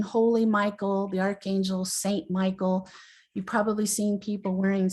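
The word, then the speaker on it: מיכאל: you know this but the original pronunciation of his name is meek k-l originally but now we call him michael and he's good he's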